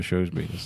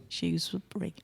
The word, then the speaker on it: Shrewsbury: I say it like the shoe you put on your foot, Shrewsbury. Well, I say it like the little, but it doesn't the little matter. rodent is a shrew.